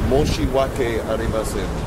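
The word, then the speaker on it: 申し訳ありません: Say, Moshi wake arimasen.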